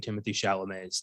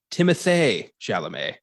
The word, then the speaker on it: Timothée Chalamet: We've apparently been mispronouncing Timothy Chalamet's name. The apparent correct pronunciation of it is Timothée Chalamet.